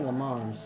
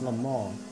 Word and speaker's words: Le Mans: people say Le Mans. It's Le Mans. That's how the French pronounce it.